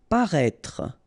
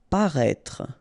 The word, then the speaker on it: paraître: Paraître. Paraître. Remember, you've got this accent circumflex on the top of E, but then you don't pronounce it, and then don't insist on this final E. Paraître. Paraître.